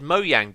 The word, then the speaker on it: Mojang: And yes, I said MOJANG because that is the correct way to pronounce the Swedish company's name.